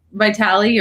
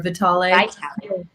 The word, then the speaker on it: Vitale: you say it well i usually say like vitali or vitale my grandma was out of the hard eye like vitali um like vitality which i like uh but